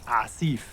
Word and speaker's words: Asif: It's Asif. That's how he told me to pronounce it.